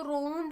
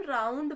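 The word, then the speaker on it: round: डी ठीक है तो उसको रंड नहीं हम राउंड पढ़ेंगे ये रंड नहीं लिखा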